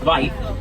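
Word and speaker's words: wyd: This is actually a mispronunciation of the word, the Afrikaans word, "vite," which means wide. This is because they have the wide mouths, which make it easier for grazing.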